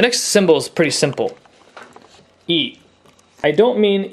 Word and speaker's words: い: to the same length in English we would use the letter i for this sound but it's not pronounced I it's not pronounced I it's pronounced e always say you saw